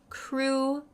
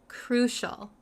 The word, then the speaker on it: crucial: need it so the pronunciation really quick the pronunciation is crucial crucial crucial um sometimes I know some students have a